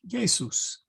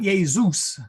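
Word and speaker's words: Iesus: So good example is in Latin, Jesus' name is pronounced Jesus. Not Jesus, no Z, please. That's going to be a tough one.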